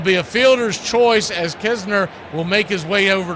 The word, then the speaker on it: Knizner: It is pronounced Kisner, though there is a Knizner. So think of it like a silent N. Almost the exact opposite of what you do with knife.